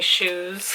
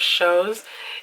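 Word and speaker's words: shews: Matters by the way the reason why I keep saying shoes instead of shows is because look how it's spelled oops it's s h e WS so confuses me of course I lost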